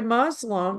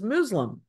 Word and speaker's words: Muslim: just like you Muslim we say Muslim you hear the word Muslim but I have been told on several occasions that the proper pronunciation is Muslim oh it may be